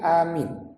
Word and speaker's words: amin: Maka di ujungnya kita baca ini amin. Bagaimana membacanya? Di penghujung pertemuan yang lalu beliau sampaikan ini cara membaca amin secara bahasa alifnya itu hamzah itu panjang, juga minnya juga panjang.